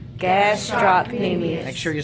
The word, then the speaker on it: gastrocnemius: gastrocnemius right all right so gastrocnemius can't stop me me so again gasps stop Amy make sure you spell